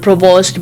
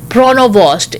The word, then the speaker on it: Provost: the liberal leader also called provos by the wrong name adding a syllable to her family name calling her pronovost instead Carney defended himself Wednesday